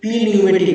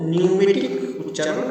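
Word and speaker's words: pneumatic: আর এই নিউমেটিকের স্পেলিংটা পি দিয়ে শুরু হয় কিন্তু পিটা সাইলেন্ট থাকে। হ্যাঁ, এটা প্রনাউন্সিং করবে নিউমেটিক, পি নিউমেটিক নয়, হ্যাঁ নিউমেটিক। নিউমোনিয়া যেমন উচ্চারণ সেরকম।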